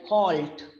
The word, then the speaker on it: halt: is that be careful the letter l after a vowel and before a consonant is not silent in all words it is pronounced in the words it is pronounced the way it is spelled like halt now halt we can't eliminate l out of it then it will become a hat that will be a different word but if we have